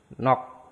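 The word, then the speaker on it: 넋: Nah, berikutnya ada akhiran giok siot. Berarti yang cuma dibaca itu giok. Berarti kata ini dibacanya nok. Sietnya nggak dibaca.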